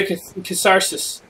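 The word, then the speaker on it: Cassardis: We're going to Casardis. Casardis. Casardis. Casardis? They need to have a pronunciation guide for this game. A lot of games. You enter a town, it says, Casardis. Pronounce Cas-ar-dis.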